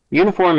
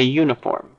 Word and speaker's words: uniform: with a vowel phon it begins with a consonant phon because this U is pronounced y u so air is being stopped please give me a uniform similarly the word our